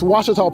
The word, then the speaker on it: Ouachita: Back in Texas, everybody pronounces it Wichita, but really, it's Washita. Washita. Washita. How would you pronounce it? Washita. Washita. It's Ouachita Baptist University. Get it right. It's Washita, people. It's Washita. Washita.